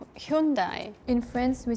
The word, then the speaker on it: Hyundai: right so that's why never got marketed as hund it got marketed as Hundai to make it sound like Japanese you're so cool and it's interesting because Japan doesn't pronounce it that way at all pronounce the Korean way true was fun I'm